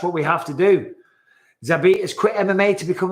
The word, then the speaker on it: Zabit: Zabit. That's it. 2 syllables.